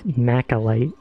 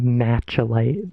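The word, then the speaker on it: Machalite: There is a real world gemstone called malachite, but it's macalite in this game. Some people probably say matchalite, but I do not think that is correct.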